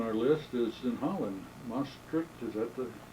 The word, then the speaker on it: Maastricht: Maastricht, is that the pronunciation? Maastricht, yes.